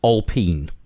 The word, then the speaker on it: Alpine: Alpine, although it's pronounced Alpine because because France.